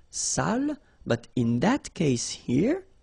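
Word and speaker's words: sale: So if you don't put the accent it means dirty and then you pronounce it sal.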